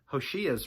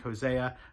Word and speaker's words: Hoshea: Beyond that, we'll see Hoshea's reign. It's tempting to look at that and think Hosea. I think it's Hoshea. I think that's how you say it.